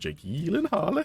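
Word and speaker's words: Jake Gyllenhaal: supposed to be pronounced Jake Elen Harle. Hey, Elen Hoola. Hey. Is that is he just taking a piss out of it or is that Well, supposedly it's some sort of Scandinavian last name and he went on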